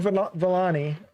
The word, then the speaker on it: Vellani: Vellani, Did I say her name right?